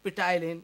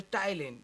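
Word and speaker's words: ptyalin: n so i read pitalin he said no this is the thailand of why well p is silent but in hindi no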